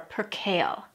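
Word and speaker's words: percale: want to look for per kale it's pronounced just like the leafy green vegetable per kale means that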